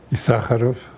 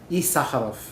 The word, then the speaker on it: Isacharoff: How do you pronounce the last name? Isacharoff. Isacharoff.